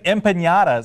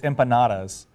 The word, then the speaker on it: empanadas: anyway no but I I was saying imp patas and she goes no it's empanadas and I was like over Spanish ifying it I was putting a till day over the I was putting an in in there when there wasn't an in and what an empanada